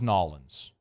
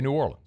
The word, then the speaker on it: New Orleans: Nobody here says Nolans, right? Yeah, no, I mean, I don't. Everybody says New Orleans. Correct. So you say New Orleans. That's how you say it.